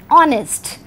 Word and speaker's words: honest: have the spellings H-O-N-E-S-T, honest, but it is a consonant, it is a word starting with a consonant letter H, but H is silent and the sound is honest, O, and O is a vowel sound.